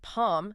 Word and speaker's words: Pharm: We meet Palm, pronounced like Palm, but with a softer L, shy, introverted university freshman.